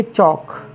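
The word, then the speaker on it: chalk: के टॉक मीस बात करना सीच ए के चौक चौक जानते ही होंगे आप सभी लोग लोग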